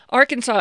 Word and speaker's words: Arkansas: have no particular meaning arkansas is also an exonym it was applied by the french which is why it has that silent s at the end illinois was similarly named